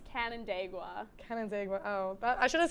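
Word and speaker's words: Canandaigua: and that is very incorrect chloe it is pronounced cannon dagua cannon oh i should have said that because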